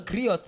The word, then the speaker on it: griot: All of us are griots in a way. Yeah. We are all people that... Griot. The T is silent.